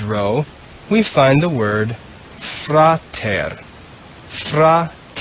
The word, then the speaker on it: frater: in the orange row we find the word frater fra it's two syllables frater means brother the second word in